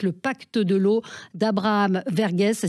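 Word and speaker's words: Verghese: une saga magnifique le pacte de l'eau d'Abraham vergess ça s'écrit V r G H e s et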